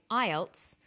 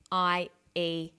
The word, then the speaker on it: IELTS: With an acronym, we don't pronounce the individual letters, we pronounce it as a word. So we say IELTS, not IELTS.